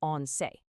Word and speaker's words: once: He misinterprets the English word for a single dose as the Spanish word once, which is pronounced once. And once means 11.